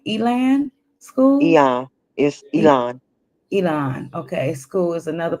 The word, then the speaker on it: Elan: Elon School is another place that was is am I pronouncing it right? Elan school. Elon is Elon.